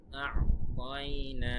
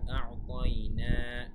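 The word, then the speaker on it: أَعْطَيْنَا: আ'তাইনা এখানে আইনটা কিন্তু এখানে কিন্তু আইনের উচ্চারণটা ভালোভাবে করবেন। তারপরে আ'তাইনা নাতে এক আলিফ টান, সায়ের উচ্চারণটা ঠিক মতো করবেন।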